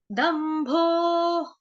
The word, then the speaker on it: दम्भो: ठीक है, दंभो, दंभो। ठीक, द पूरा आधा म, भ भालू वाला है, ओ की मात्रा है। दंभो, द के ऊपर आघात आएगा किसका, आधे म का।